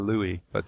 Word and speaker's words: Louis: Even though it's spelled Louis, that's the way I spell my name, but I prefer Louis, or Lou.